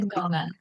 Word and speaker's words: Tindongan: Tindongan. Mhm. Don. Is the N, do you pronounce after Don? Or no, Tindongan? It's merged together. It's Okay. like the end of if you were to say song.